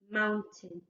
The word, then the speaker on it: mountain: Ow, a, mountain. Okay? So it sounds more like tin at the end, but it's actually spelled like tain. Out, ain, mountain.